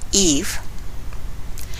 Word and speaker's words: Ava: Linda Cassidy, the mother of a 3-month-old daughter, Ava, who, when she pronounces it, sounds like Eve, can find no words to explain what has happened yesterday.